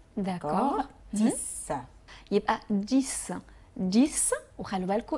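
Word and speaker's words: dix: بعدين عندنا رقم 10 اللي هو ديس. الاكس عندي هنا اتنطقت برضو اس زي سيس. داكور. ديس.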